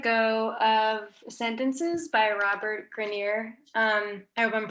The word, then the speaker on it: Grenier: I Can't Let Go of Sentences by Robert Grenier. I hope I'm pronouncing that correctly. Yes, I Grenier.